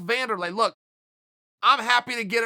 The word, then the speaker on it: Wanderlei: we were going through the van delay versus wander lay I still don't know the answer to that I I think it's spelled with a W but I think he calls himself Wanderlei look I'm happy to